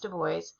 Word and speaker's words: Du Bois: Du Bois, no joke, his last name is pronounced Du Bois.